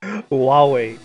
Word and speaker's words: Huawei: get out of here you know what's weird huawei it's not it's spelled like cool why it's pronounced like huawei so weird or at least that's how marcus